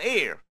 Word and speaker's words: heir: An heir, heir는 상속자라고 하는 뜻입니다. 에치가 발음되지 않습니다.